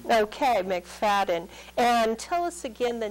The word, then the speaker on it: McFadden: guest today is Stephen mcfaden or MC I'm terrible pronouncing names MC feden is probably the way that lots of people uh in IR correct we say mcfaden okay mcfaden and tell us again